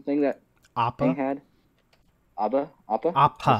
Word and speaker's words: Appa: Appa? Did I Appa. say it right? APPA. Yeah. Appa.